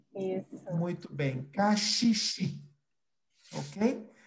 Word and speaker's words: caxixi: help me to your house beech eu assisti cachichi cachichi muito bem caxixi ok e vamos falar comigo berimbau berimbau muito